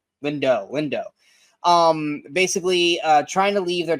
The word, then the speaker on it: Lindo: Is it Lindo or Lindau? I always say it wrong. Lindo.